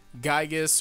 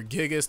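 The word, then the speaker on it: Giygas: Then there's also for the next villain, Gygus or Gigas, depending on how you say it, of Mother.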